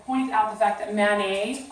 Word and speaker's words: Manet: And so they want you to point out the fact that Manet sounds like mayonnaise. So that they remember because a lot of them won't realize that that's how to pronounce it.